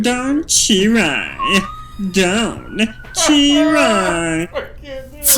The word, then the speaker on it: Cherry: And it is Cherry, by the way, with the CH. It's not Sherry. No, it's not Sherry.